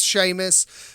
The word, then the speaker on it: Seamus: yeah the phone i people call me sheamus that's how it's pronounced i go by